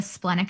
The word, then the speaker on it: splenic: next we have the splenic center which is going to be the triangle on the left side how do you pronounce that the what center splenic splendid like the spleen okay yeah okay spleen